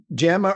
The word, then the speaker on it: Jama: ones of course Europe in some languages it's known as Yama as well because it's so yeah